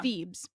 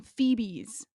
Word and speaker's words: Thebes: because there's the city of Thebes right it's Thebes and I knew that why did I know the steps no they were saying phoebees and that's how it was read and nobody